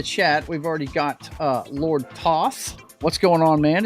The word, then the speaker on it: Thoth: Lord Thoth. I'm sorry, I said that wrong. I got to remember. I got to talk like Dusty Rhodes when I say his name. Lord Thoth. That's right, Lord Thoth.